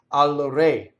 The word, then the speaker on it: al re: So the other thing is, re is closed when it means the king. So you're saying to the king, right? Right? The musical note in solfege is a re, open.